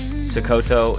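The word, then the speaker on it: Sokoto: Sakoto is the correct pronunciation.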